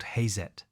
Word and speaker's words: Hazet: The brand name came from the German pronunciation of his initials. H became Ha. Z became Zet. The company was called Hazet.